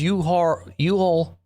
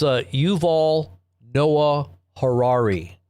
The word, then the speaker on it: Yuval Noah Harari: But his name is Yuhal. Let me make sure I got it right here. His name, I said it wrong, so I want to make sure I got it right here for you guys. It's Yuval Noah Harari.